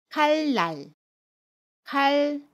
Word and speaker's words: 칼날: 애니 옵니다 그러면 첫 소리 자음 이은 밀로 발음 해요 그래서 칼날 칼 이라고 받음 해요 첫소리 자음 눈을 밀로 발음합니다